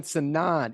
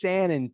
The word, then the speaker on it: Sanan: I keep saying Sanan. It's Sanan, people. Do not be like Brandon J and say it wrong.